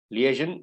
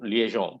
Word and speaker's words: liaison: use as liaison okay liaison liaison both are the correct pronunciations liaison the other the